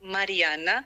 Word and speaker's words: Marijana: And as you said, you pronounced my name very well, Marijana.